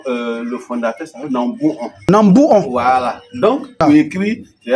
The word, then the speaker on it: Nambonkaha: C'est une erreur d'orthographe qui fait que les gars disent Nambonka, Nambonka. Voilà. Et cela arrive beaucoup dans plusieurs villages. Pour pouvoir écrire en français, et ils regardent ce qui est facile à prononcer. Voilà. Et puis ils écrivent sur les pancartes. Et parfois ça reste. Donc on rectifie un peu l'erreur d'orthographe ici. Le nom du village, c'est Nambouon.